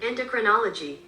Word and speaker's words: endocrinology: Endocrinology. How do you say this word? Endocrinology.